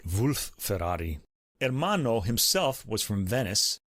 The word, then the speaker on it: Wolf-Ferrari: Ensemble their chamber Ensemble wolf Ferrari's mother was Italian and his father was Bavarian so I guess I should pronounce it Wulf Ferrari hermano himself was from